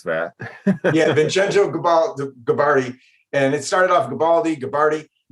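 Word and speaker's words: Vincenzo Gibaldi: Yeah, I was going to ask you how to pronounce that. Yeah, Vincenzo Gabardi.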